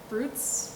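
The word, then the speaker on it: Bryde's: So one of the things, I was so captivated by, I'm going to pronounce its name wrong, the Brutes whale? Is that the correct pronunciation? Bruta whale.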